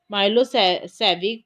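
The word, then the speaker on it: Milošević: A narrow-minded Serbs nationalistic Milosevic, pronounced Milosevic, had won the election.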